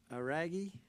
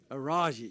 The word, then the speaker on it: Aragi: Next, we have Aaron Aragi. Did I say it right? Araji. Yeah, it was close. I just had the hard G's.